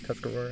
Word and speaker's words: Tuscarora: This is my first time at Tuscarora. Am I pronouncing that right? Tuscarora? Yes, Is that- correct.